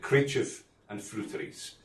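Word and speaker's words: Creideamh an Freuteries: and um many people ask me how to pronounce it but that's it Cref and fies and it's a combination of GIC and um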